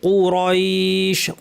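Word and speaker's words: قريش: লিইলাফি কুরাইশ, কফ এবং র দুটাই ভারী, ভারী, আক কু কু আক কু কু কু র র র কুরাইশ, কুরাইশ। শেষের শিনটাকে সঠিকভাবে জিহ্বা মাঝখান থেকে উচ্চারণ করতে হবে, লিইলাফি কুরাইশ।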